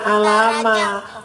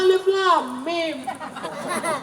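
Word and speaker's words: الم: Ini itu bukan alama. Alif lam mim. Oh, bacanya alif lam mim.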